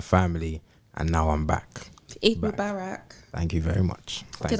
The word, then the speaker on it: Eid Mubarak: Eid Mubarak. Thank you very much. Did I pronounce that correctly?